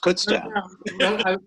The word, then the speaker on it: Kutztown: let you know that kutztown is pronounced kutztown what was your impression